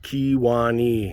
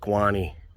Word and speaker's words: Kewaunee: And it is pronounced Kewaunee, not Kewaunee.